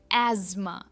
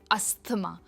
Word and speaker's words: asthma: Asthma and not asthma. It is asthma.